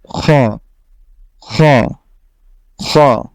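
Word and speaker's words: خ: খটা হলো বাংলা খ থেকে একটু মোটা করে আপনাকে পড়তে হবে খ, খ, খ।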